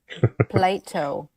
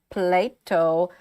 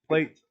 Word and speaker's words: Plato: She actually genuinely believes it's pronounced plate. Oh. It's just a really, really hard T for some reason. Apparently, it's so hard that it's kicking the O away from it.